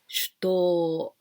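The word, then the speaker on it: 手刀: katana and we can also pronounce to but this is long sound for example you can say nihonto this japanese sword is long sound like this so here shito please be careful with this pronunciation when we do this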